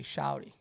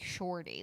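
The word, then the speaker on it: shawty: even make sense I you got to say shouty no right exactly like it doesn't make sense when you say shorty like who are you calling shorty if you're going to spell It O It's s h a w t y a w not o r it's a w shouty shouty he calling shouty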